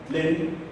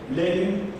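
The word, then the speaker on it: Lenín: Por supuesto, la fórmula Lenin, no digo Lenin de América, no sé si me exagero, pero el Lenin, pero con acento en la isla, y Jorge Glass han ganado las elecciones.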